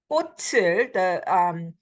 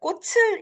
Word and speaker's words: 꽃을: This can be pronounced two ways. Either 꽃을, the ch sound at the end, the 받침, it gets carried over liaison role. But 꽃을 is pretty, it takes up a lot of energy to say that.